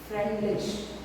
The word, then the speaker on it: Freundlich: Now, a scientist called Freundlich, okay, a scientist called Freundlich, the D is silent, okay, Freundlich.